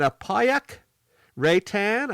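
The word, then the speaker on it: Apayauq Reitan: caitlyn davis 43rd and apayak ray tan i believe is how you say the name in 42nd and then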